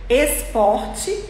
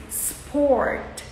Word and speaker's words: sport: Esporte smile Stone Smartphone e não é tá errado quando a gente coloca um é um I antes de palavras que começam com s nós estamos em inglês pronunciando errado Esporte a gente coloca é